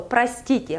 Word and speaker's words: простите: So простите, like price, тите, простите. And the second association is just the word rust. Rust. In the middle of it, простите.